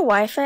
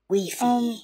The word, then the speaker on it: Wi-Fi: Razor, is your Wi-Fi acting up again? No problem. With Weefy. Razor, I think it's pronounced as Wi-Fi.